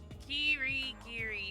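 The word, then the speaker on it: 霧切: Ah, my pronunciation! Kyoko Kirigiri? Kirigiri.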